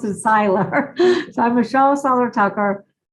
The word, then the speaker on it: Seiler: myself to get my name right, because I'm pronounced as Seiler.